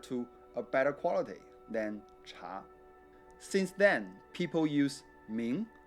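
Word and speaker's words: 茶: People there mostly speak Mandarin, in which the drink is pronounced cha.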